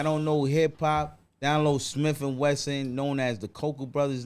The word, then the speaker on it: Smif-N-Wessun: know hip hop download smith and wesson known as the coco brothers now spell it right s-m-i-f w-e-s-s-u-n like the sun shining right yeah my part